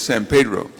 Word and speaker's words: San Pedro: Perry's assistant said you're right Miss holness it's San Pedro so I don't want to say anything wrong